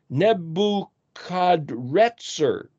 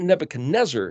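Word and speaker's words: Nebuchadrezzar: one of Jeremiah 24 it's pronounced nebuchad reter it's not Nebuchadnezzar it's it might be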